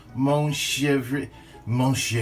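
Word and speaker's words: Montrachet: going to do some goat cheese and it's pronounced Mon mosha of a goat cheese also some dried oregano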